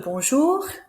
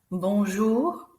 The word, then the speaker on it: bonjour: Bonjour, bonjour. We don't say the N in the middle, so it's not bonjour, it's bonjour.